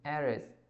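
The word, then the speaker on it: heiress: पढ़ क्या रहे हैं, प्रोनाउंसिएशन क्या लिखा रहा है, ए, एरिस, एच जो है वो साइलेंट रहता है, दैट्स वाई यहाँ पे क्या आ जाएगा, एन एरिस, एरिस।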